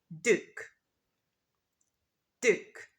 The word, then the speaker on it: duke: pronounced Duke Duke but in British English we don't pronounce the d instead it's a j sound we say duke what's